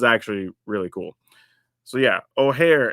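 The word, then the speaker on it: Ojer: So yeah, Oare is how we're pronouncing this card.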